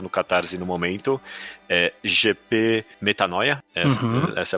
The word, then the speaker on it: Metanoia: GP Metanoia, essa é a pronúncia.